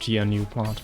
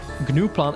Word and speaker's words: gnuplot: Okay, it's pronounced GNUplot, okay. GNUplot is funnier.